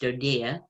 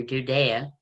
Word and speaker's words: DoDEA: department of defense education activity pronounced dodea or judea it's pretty small compared